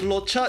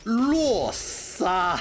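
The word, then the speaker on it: Luocha: The thing is, right, his name is not pronounced as Locha, it's called Luosa. His name is called Luosa.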